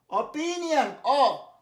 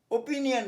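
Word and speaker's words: opinion: অপিনিয়ন, ওপিনিয়ন না, অপিনিয়ন, যেমন বলেছিলাম অবিডিয়েন্ট বলেছিলাম। অফার, গসিপ মানে গেজানো, গল্প, ফালতু গল্প।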